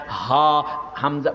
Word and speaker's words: হামজা: করে গোল হয়ে যায় হামজা বাতাসটা বাইর হয় হামজাহ বুকের বাতাস বাইর হয়ে যায় ওই ডাক্তার বলতেছে আরবি